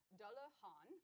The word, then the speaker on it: Dalahan: get the pronunciation right da la han like han solo dalahan um is from the